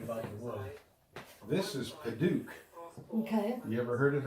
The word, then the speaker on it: Padauk: This is Padauk. Okay. You ever heard of that? It's not spelt like Padauk, it's spelt like knick-knack, paddywhack. Okay. P-A-D-U-A-K Okay. is pronounced Padauk.